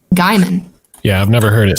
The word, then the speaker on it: Gaiman: just read it okay I thought it was pronounced gayman but I've actually never heard his name said until now and then I was like wow guyman yeah I've never heard